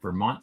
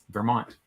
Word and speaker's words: Vermont: Ver, like I bet there are no Slovenians who Bert, know but you that. pronounce it Ver. And then Mont is the word for mountain. So Green Mountain is Vermont.